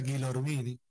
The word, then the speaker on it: Gilormini: Para acceder a las entrevistas es simple, es entrar a la plataforma de YouTube, es escribir mi nombre, que se escribe Gilormini. Aunque se pronuncia Gilormini.